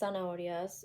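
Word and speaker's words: horas: say unas s oras again please silence this age I don't want anyone to be saying soras cuz that's not how it is it's very silent soras yeah so we have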